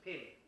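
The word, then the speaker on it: phin: a traditional tie instrument called a pin p h i n pronounced pin so some of you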